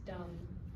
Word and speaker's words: dumb: What about with silent letters, for instance, dumb? I would say dumb, don't say because it's all auditorily. He's not even looking at the word. He doesn't know there's a B there.